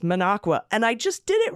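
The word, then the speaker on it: Minocqua: knew it was coming Alaska however manaqua is pronounced manaqua and I just did it right I was calling it manoqua but I just said manaqua okay all right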